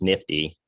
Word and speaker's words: NFTY: we're talking about today the nfty that we pronounce nifty came about we started